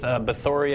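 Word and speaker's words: Báthory: was of course Elizabeth beori I believe is the pronunciation there she is um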